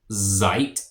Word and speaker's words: seid: So you all, ihr seid, ihr seid, and a S makes a Z sound at the beginning of a word in German.